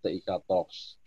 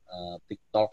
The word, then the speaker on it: Tiktox: salah seperti itu maka terciptalah nama brand ini tiktox tapi Nam mohon nanti Bacanya jangan tiktok sebenarnya jadi hantu 13